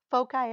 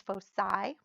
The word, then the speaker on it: foci: have the two foci foci is one of the ways that you can pronounce focus in plural the other is full side both are okay so if I started